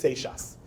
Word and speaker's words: Seixas: So on August 17th, the caretaker, the sexton, his name was Moses Seixas. The E-I-X-A-S is pronounced like a sh. Moses Seixas was the caretaker of the synagogue in Newport, Rhode Island.